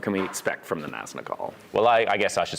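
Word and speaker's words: Nazgûl: Yeah, Ben Walker's the master of the pronunciation, but I think it's Naznagal. That's really Yeah, you gotta get which I think that first G in. There's a little G in there. And you can't forget that.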